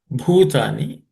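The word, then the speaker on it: भूतानि: Avyaktadini bhutani. In this, bhu is fourth letter in the per class of consonant, so it has to be aspirated.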